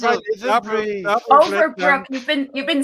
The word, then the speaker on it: Overbrook: Son of Overlook, as I live and Double breathe. Overbrook.